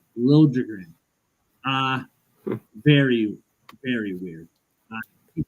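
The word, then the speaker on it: Liljegren: game Timothy lrin now when he was in Toronto he wanted it pronounced Timothy lilin and now he wants to be pronounced Lin uh very very weird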